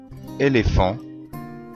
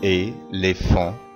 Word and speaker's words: éléphant: المقطع ph ينطق زي حرف الفاء في اللغة العربية أو F في اللغة الإنجليزية. مثال فيل éléphant éléphant éléphant téléphone téléphone phénomène phénomène